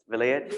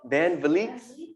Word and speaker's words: Van Vliets: So I wanted to give a shout out, a mazal tov to the Stillwells and I hope I don't pronounce this wrong, the Vilayet. I want the Vliets, Van Vliets.